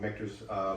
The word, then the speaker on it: Michter's: So it is Michter's, and I guess you would say it's kind of Michters, but it is Michter's. If you watch their videos, that's how they pronounce it.